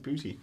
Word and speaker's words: Boetie: Oh, that's how it's pronounced, booty.